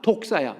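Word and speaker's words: δόξα: 그래서 영광이라는 단어의 헬라어 단어가 독사야. 외우기도 좋아. 독사야 자식들아 할 때 독사야. 그 독사는 관계없어. 헬라어 발음이 그래.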